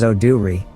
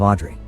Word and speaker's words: Audrey: Park's house and asks to rent the room they're offering, telling them her name is Oduri, a mispronunciation of Audrey.